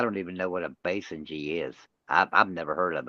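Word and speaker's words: Basenji: to pronounce this right so I'm gonna the Basin G and it's spelled Bass b-a-s-e nji the Basin g dog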